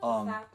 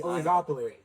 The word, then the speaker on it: oligopoly: video that he had on I can never pronounce this word. Ogliopoli. Oglipi. Oligopoly.